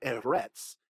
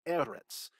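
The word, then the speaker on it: אֶרֶץ: It's not eretz, it's eretz.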